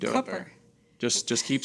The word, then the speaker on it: Cooper: He said it rhymes with cooker. So, that's what I've That's what I've been doing. Cupper.